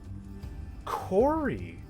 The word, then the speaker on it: Kori: Yeah, actually, I mean, it could be like a normal, like it sounds like your normal name, like, but Kori, the way it's spelled makes it sound a little more fantastic.